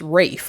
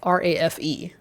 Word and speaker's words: Ralph: it it's not pronounced it's pronounced Rafe r a f e which is Rafe fines